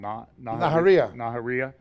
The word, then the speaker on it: Nahariya: Nahariya.